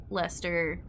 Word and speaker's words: Leicester: Leicester, Leominster, all the ones that have fewer syllables than you would think.